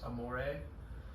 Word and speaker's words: amore: The word for love is amore, but you roll the R, so amore would be the pet name.